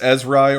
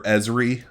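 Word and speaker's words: Ezeri: israeli it could be it could be pronounced ezrai or esri like either we'll say it's esri for now all right and it's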